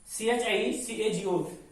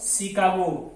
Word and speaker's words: Chicago: Next is all about, if the words are from the French origin, then such words give their pronunciation like sir. CHER, this is all about safe, not chafe. CHICAGO, this is all about Chicago, not Chicago.